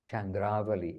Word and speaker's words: Chandravali: Chandravali is actually more proper pronunciation.